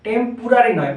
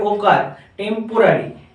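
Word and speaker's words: temporary: যদি টেম্পোরারি উচ্চারণ করো তাহলে পি ইউ করে ফেলবে, টেম্পোরারি নয়, পয়ে ওকার, টেম্পোরারি, টি এম পি ও আর এ আর ওয়াই। টেম্পোরারি যদি থাকা বোঝায় তখন আমরা স্টে বলতে পারি, ঠিক আছে?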